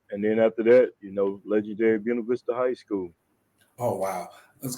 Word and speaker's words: Buena Vista: it's funny because we say Buena Vista, like you said, we know it's actually Buena Vista. Actually, that's how to pronounce it. But you know us, the black Hmm. people, we changed to Buena Vista.